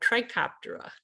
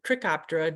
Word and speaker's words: Trichoptera: Moths belong to the order Lepidoptera, and caddisflies belong to the order Trichoptera or Trichoptera, depending on who's pronouncing it.